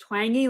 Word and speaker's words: Twenge: It's pronounced twangy, like twangy guitar.